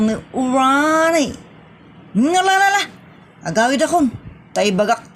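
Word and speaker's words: Rony: I said Ronnie. R-O-N-Y. Ronnie nga ron na. Nagan mo ti lalaki. Apay lalaki kan. That is pronounced as Ronnie.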